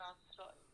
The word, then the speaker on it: আশ্রয়: তোমরা বলো তো, আশ্রয়ে উচ্চারণ সূত্র অনুযায়ী আশ্রয়ের উচ্চারণ কোন স দিয়ে হবে? দন্ত স। দন্ত স। কেন দন্ত স হলো বলো তো? কেন দন্ত স হলো? কারণ দন্ত স তালব্য স এর সাথে র ফালা যুক্ত আকারে আছে।